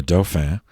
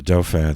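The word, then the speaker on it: dauphin: children born to the doh fan of france uh the dopher that's spelled d-a-u-p-h-i-n uh that was uh uh that the french analog to the prince of wales meaning the dofen was the was the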